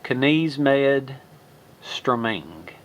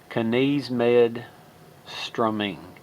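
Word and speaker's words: Knivsmed Strømeng: That I used to think, I didn't know how to pronounce that before, but that is pronounced Knismed Strømming. Okay, Knismed Strømming.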